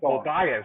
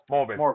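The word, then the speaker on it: Morbius: Well, you saw the trailer for Mobius, right? Is it Mobius, or how do you pronounce that? Morbus.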